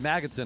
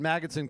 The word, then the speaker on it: Magnuson: and here's 435 david magnetson i've been mispronouncing announcing it all along david magnuson catches on number 435